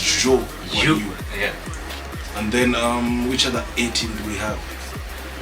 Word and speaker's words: Zhou Guanyu: He's Japanese, so the pronunciation is a little tricky, but I'm pretty sure it's Zhou Guanyu.